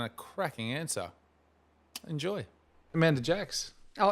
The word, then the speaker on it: Jackes: C, so just pretend it doesn't have a C. It's bastardised French. And it's Jake's, right? Yeah, and that's where it comes from. Yeah. So not then Jacques? Yeah, it's definitely not that.